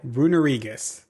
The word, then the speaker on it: Runerigus: Runerigus. That's how you say it.